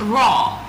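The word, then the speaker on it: roar: So it has this pronunciation with R A W raw.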